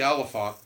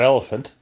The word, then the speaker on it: Olyphant: it with Tim Timothy Olyphant not elephant Oh Holly front but